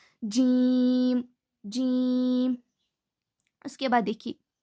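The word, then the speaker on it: ج: It is pronounced when the center of the tongue touches the upper palate.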